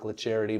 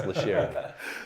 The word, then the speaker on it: LaCharity: And LaCharity is spelled like LaCharity, but pronounced LaCharity.